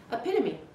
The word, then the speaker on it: epitome: have known this word and read it and pronounced it inside your head is epitome others might have said hasn't it hesitantly bit